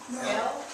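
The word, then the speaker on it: אל: underneath the Aleph, because the Aleph is silent until you give it sound, like a shofar is silent until you give it wind or breath.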